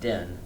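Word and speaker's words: Ding: And I think his name is pronounced Din. D-I-N-G.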